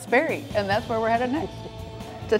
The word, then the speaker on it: Sperry: SCARY…THAT RHYMES WITH SPERRY…AND THAT’S WHERE WE’RE HEADED NEXT…TO TAKE A RIDE DOWN A PATH THAT’LL HAVE YOU JUMPIN FOR SURE.